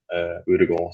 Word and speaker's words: Ødegaard: You're the first person who's pronounced it correctly on this channel. That's It's probably not. It's probably Edegard. I don't know, but in Denmark we say it different.